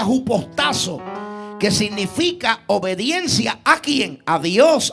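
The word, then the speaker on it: ὑποτάσσω: Apunte la palabra griega para someterse es la palabra que se pronuncia jupostazo. Jupostazo que significa obedecer, estar sujeto o sumiso.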